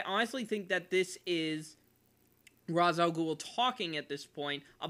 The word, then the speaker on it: Ra's al Ghul: Now, Ra's al Ghul, or Ra's al Ghul, however you want to pronounce it. I usually pronounce it Ra's al Ghul.